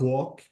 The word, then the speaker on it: walk: the L is silent the L is silent yeah that's what I'm saying yeah okay so every every every like um every like words coming like qu something s like yeah voiceless ah most of the words most of the words um before the ending of this word we have L this L is silent let me show you some examples we have walk notice the L before the last letter this is silent am I right yeah